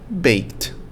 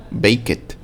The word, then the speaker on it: baked: Bake, baked. Adore, adored. Igual en la pronunciación, ¿no? Tenemos escape, escaped. Bake, baked. Adore, adored. Ok, no le decimos adored o bake it o escape it.